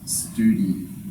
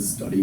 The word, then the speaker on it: Study: called the F fub study metric pronounce it right old Professor used to get a bit picky about it's not the study metric it's the stud Okay so F stud